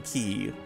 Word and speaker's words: ki: It's pronounced key is is what this random person says on the Oh, that's on the Stardew Valley wiki.